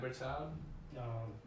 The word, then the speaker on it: Berthoud: So I don't know how to say this guy's name, but it's Charles Berthoud? Berthoud? Or Berthoud maybe? Yeah, Berthoud.